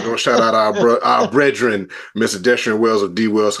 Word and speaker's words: BREADren: media at Breen pod that's Breen spelled like bread b r e a d like bread because we always talking about bread we always getting bread Breen pod Breen podcast